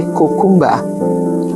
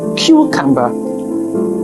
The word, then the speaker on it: cucumber: let's take other examples the words cucumber a lot of people would say cumba and the actual pronunciation is cucumber how about this word